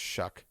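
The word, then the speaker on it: Shough: It's spelled like Shuff but like it's pronounced Shuck.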